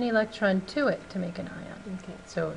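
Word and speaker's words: anion: negative is called on an ion ion so here's how to pronounce it an I on on yeah I put that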